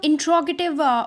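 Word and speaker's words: interrogative: इसके आप ध्यान रखिए कि ये हम जनरली हम सुना करते हैं कि लोग इसको इंटेरोगेटिव कहते हैं, बट ये इंटेरोगेटिव नहीं होता है, इट is pronounced as इंट्रोगेटिव।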